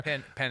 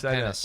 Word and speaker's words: Penix: going, man, Kirk Cousins stuck, and now Michael Penix didn't even look good at the end of the year. What the hell's going on there? Penix, not Penix.